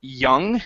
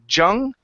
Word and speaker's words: young: Okay, but I want to practice the pronunciation on the word young instead of jung.